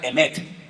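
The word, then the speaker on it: אמת: La palabra verdad se la voy a enseñar para que aprendan a decirla en hebreo se pronuncia emet.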